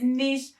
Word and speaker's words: niche: And disclaimer, I know that the correct pronunciation is niche, but there's a saying out there that the riches are in the niches, and it is so true.